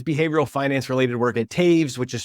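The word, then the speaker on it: Toews: Paris to his behavioral Finance related work at Taves which is spelled toes t o e w us and the behavioral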